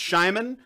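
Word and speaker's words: Szymon: area she tells us okay sighs Ayman is pronounced Shimon their names are shimon Wojtek and marcin or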